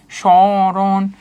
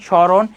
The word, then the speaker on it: স্মরণ: যেমন দেখো শব্দের প্রথমে যখন মফলা থাকে তখন কি হয়? উচ্চারণে কিছুটা যোগ পড়ে এবং সামান্য নাসিক্য স্বর হয়। যেমন হচ্ছে সশান সরণ। এইযে দেখো একটু নাসিক্য স্বর হচ্ছে না। শশান স্মরণ নিজের উচ্চারণ করে দেখবা।